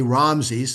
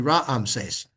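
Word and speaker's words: Raamses: We say Ramse's. It's actually Ramsees. Yeah. We would pronounce both of the A's.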